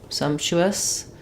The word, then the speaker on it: sumptuous: so some um Su Sumptuous um first syllable stress we have the shav there Sumptuous um the p is somewhat inaudible um again three consonants in a row sometimes the middle one drops um the tuu Su